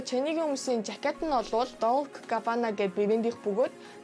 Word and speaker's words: Dolce & Gabbana: Dolce & Gabbana.